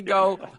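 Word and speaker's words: Gou: Terry, is it pronounced Go or Gao? He says go. It's G-O-U. Okay. And I guess if he was saying it in English, he'd say go.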